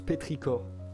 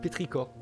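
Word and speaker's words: pétrichor: sur le bitum là ça se prononce péricor ok pardon pétricor bah oui non c'est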